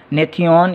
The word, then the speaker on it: gnathion: उसमें जी साइलेंट है, GNATHION, नेथियन, या इसको मिडल पॉइंट, मेंटल पॉइंट कहते हैं, और ये उसकी बेस है।